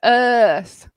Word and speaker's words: earth: hot heart and then in earth we're coming with an O sound it's like earth and there's not many right words that rhyme with earth maybe the Australian city Perth or that's really kind of the most common one so it's the difference